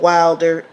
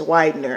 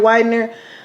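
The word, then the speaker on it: Widner: I showed the real Brian Wilder with how do you say it's Widener I believe when they show the real Brian Widener I was like you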